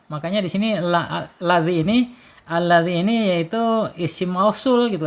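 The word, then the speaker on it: الذي: Sedangkan ini makhraj yang sesungguhnya ya za, yaitu ujung lidah menyentuh ujung gigi seri. Keluarkan sedikit ya ujungnya ya. Jadi makhrajnya benar-benar bagus ya. Alladzi gitu.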